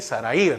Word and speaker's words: Sarai: Sarai sería, porque no lleva acento en la I, Sarai, ¿no?